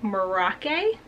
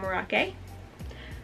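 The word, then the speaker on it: Merauke: pronounce it, I think Merake? I watched a bunch of YouTube videos before filming this to see how people pronounce it. I thought it was Merak, but everyone was saying Merake.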